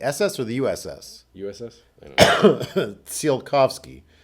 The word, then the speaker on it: Tsiolkovsky: USS sealed coughs key is there not a silent T there because Picard I felt was sort of half pronouncing a silent T there yeah it's it's one of the more awkwardly named ships I didn't start anyway because half the time they're Picard is pronouncing in with like a kind of a T sound at the beginning seal coughs go there